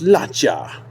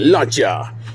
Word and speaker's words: Lancia: like a bmw um except it's la cha and you have to say it like that luncha this is the launcher